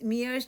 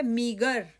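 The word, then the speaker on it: meager: उसने उनका अत्यधिक स्वागत किया और यह शब्द प्रोनाउंस मियर्स नहीं कहलाएगा। यह है मीगर और इसका अर्थ होता है कम और अपर्याप्त।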